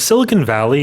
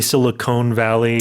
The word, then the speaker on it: Silicon Valley: I want to point out Silicon Valley the pronunciation a lot of people say silicone valley or silicon valley.